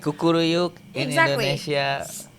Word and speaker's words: kukuruyuk: Like kukuruyuk in Exactly.